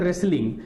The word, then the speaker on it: wrestling: तो अब देखिए यहां पे जो WR है इसका प्रोनाउंसिएशन केवल R है, जो WR है इसका प्रोनाउंसिएशन केवल R है। तो WR को मिलाकर हम R पढ़ते हैं, RH को मिलाकर भी